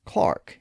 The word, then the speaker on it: clerk: Of course, some of those alternate pronunciations still survive in the UK, where the word spelled C-L-E-R-K is pronounced as Clark instead of clerk.